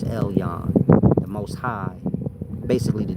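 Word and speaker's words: Elyon: This is Ellen. E L Y O N. That's what they called it in Hebrew times. Elen, maybe y'all pronounce it in the day times. Elon, the most high.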